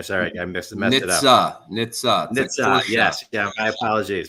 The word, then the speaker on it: Nitze: How to pronounce the last name for me? Sorry, I messed it up. Nitze.